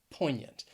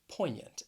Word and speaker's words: poignant: not match the spelling poignant you have a silent g and then that a-n-t it just sounds like yant poignant and if you don't